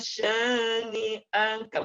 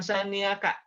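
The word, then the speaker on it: شانئك: Perhatikan sekali lagi ayat ketiga, inna syani'aka, bukan syani'aka.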